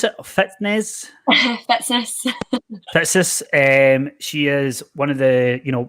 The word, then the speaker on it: Fitzness: How do you pronounce it? Fitzness? Fitzness. Fitzness.